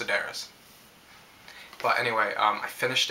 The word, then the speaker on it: Sedaris: by david sedaris sedaris i've come to know that it's pronounced sedaris but anyway um i